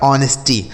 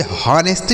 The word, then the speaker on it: honesty: आगे लिखा है HONESTY, इसे पढ़ा जाएगा ऑनेस्टी। HONESTY, तो इसे हॉनेस्टी नहीं पढ़ा जाएगा, हॉनेस्टी। यहाँ पे जो यच है यह साइलेंट है, इसे नहीं पढ़ते हैं, ठीक है।